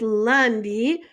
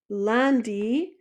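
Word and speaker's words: lundi: of the week we're going to start with Lundy this should be a little bit familiar so ly we have is Monday Lundy so Lundy is Monday Lundy next is Marty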